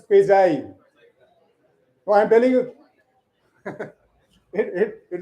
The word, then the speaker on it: quasi: It's not quasi. It is quasi.